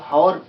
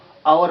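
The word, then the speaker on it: hour: जैसे एच ओ यू आर, इसको हॉर नहीं पढ़ते हैं, आवर पढ़ते हैं, आवर। इसमें ह छुपा रहे, साइलेंट रहता है, ठीक है।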